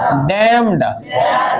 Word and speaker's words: damn: डैम्ड, हैटर्ड, घृणित, ऐसे के DAMN, डैम, इसको N का साइलेंट रहता है, ठीक है।